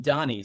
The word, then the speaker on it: Dani: location Independence Journey um I met Carla and Danny who are our guest today I met two three years ago was it three years ago already about 2022 I I actually pronounced my name Donnie sorry there's like no way for me to